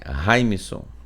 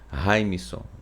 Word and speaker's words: Raimson: Essa pronúncia, essa fonética, ela é assim em qualquer parte do mundo, gente, tá? Se uma pessoa de um idioma que talvez tenha uma certa dificuldade de dizer, de pronunciar o meu nome, paciência, mas se ele quiser falar o meu nome, tem que ser dessa forma, Raimson, entende?